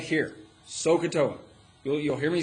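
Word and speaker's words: SOHCAHTOA: So, SOA, all right, is how we say it. It's S O H C A H T O A.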